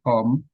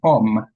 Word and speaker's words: poem: So next time, if I'm invited here, make sure there is no poem coming before. I keep telling Paul Peter for 20 years that it's pronounced as poem, not poem.